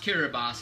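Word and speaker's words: Kiribati: to another country um whereas the people of kiribas uh which is spelled kirati k i r i b a t i it's pronounced kiras it's spelled kirati um and uh so those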